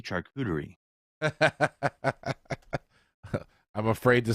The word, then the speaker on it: charcuterie: of this this is how you say it charcuterie um Google this Mike yes and it will